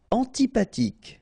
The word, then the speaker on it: antipathique: Antipathique. So remember this H doesn't exist phonetically, so antipathique.